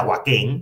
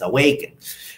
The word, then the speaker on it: Awaken: nuestro a nuestro energo sé que varios de ustedes le aaken pero no es aaken es aak ya igual si le quieren Llamar a para que sepa que la pronunciación correcta es awaken entonces awaken Energy drink